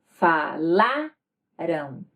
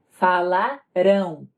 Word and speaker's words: falarão: Falarão. Enquanto que no futuro a tônica vai estar na última sílaba. Falarão.